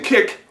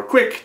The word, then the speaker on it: Qik: at video chat using kick or quick depending on how you want to pronounce it between the My Touch